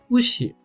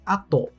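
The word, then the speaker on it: 後: A sua primeira leitura é ushi. Ushi, que junto com a sílaba ro, ficando ushiro, se torna a palavra atrás. A segunda leitura é ato. Ato, a própria palavra depois.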